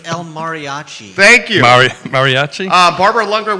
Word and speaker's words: El Mariachi: I mean, It's El Mariachi.